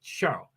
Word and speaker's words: Charles: he's half French and that's how you say Charles in French you say show and that's how you